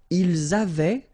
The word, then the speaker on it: avaient: Ils avaient, so remember, even if we've got this A-I-E-N-T, well, we don't pronounce it, or we don't pronounce this E-N-T, so we get avait, okay, phonetically.